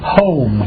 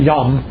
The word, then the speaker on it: yom: comes from the word y y m pronounced like home not yum but home so in the process